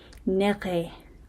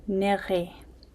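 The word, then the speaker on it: niri: The next one, French people are going to be really good at this one cuz they, you know, have the R pronunciation, nerri, which is to eat. So, nerri.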